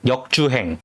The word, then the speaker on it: 역주행: That sounds 역주행 ends on 응 like sing from the back of the throat, don't add a hard G sound.